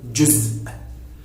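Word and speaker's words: جزء: Our next word today is the word juz. Juz. It's somehow maybe hard to pronounce this word, because you would have a little stop at the end of the word, but when you book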